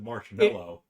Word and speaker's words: marshmallow: he spells it like you would think it's spelled like the word mellow yes but not like mallow yeah yeah right the english language is tough i see because yeah you wouldn't like we pronounce it marshmallow exactly mal yeah that's why english